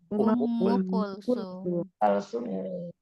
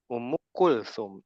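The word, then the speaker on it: Umm Kulthum: Ummu Kulsum. Ya, dhammah Bu. Ummu Kulthum dhammahku. Kedengaran dulu. Kalau Ummu Kulthum kayaknya ada ya di Indonesia, ada orang namanya Ummu Kulthum ya.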